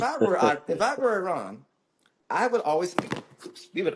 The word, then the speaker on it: Iran: to no end is Iran or Iran to say it properly and I say that